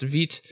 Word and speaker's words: Vite: And yes, Vite, pronounced Vite, it's from French, I believe means fast. And it is. Yes, Vite rhymes with sweet is my way of remembering it. Nick Nisi says Vite rhymes with feet.